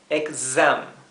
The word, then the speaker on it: exam: Así que esto no es exam, es exam. Sí, exam. Tienen que tratar de poder pronunciar ese tipo de sonidos en inglés. El z, el zumbido, exam. La X en inglés siempre se pronuncia así. En vez de ser una s suave, es una s zumbada.